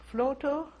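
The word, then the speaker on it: Vlotho: I was born in Flotow, in northern part of Germany. Can you spell that, please?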